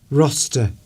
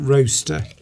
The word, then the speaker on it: roster: Roster. Yes, roster, not roaster. You wouldn't have an A in there.